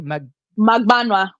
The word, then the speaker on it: Magbaua: How do you pronounce it correctly? Magbaua. Magbaua.